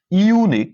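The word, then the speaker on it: unique: কি বসবে এ বসবে কেন ইউনিক এখানে ইউ এর উচ্চারণটা কিন্তু ইউ রাইট তো ইউ এর উচ্চারণ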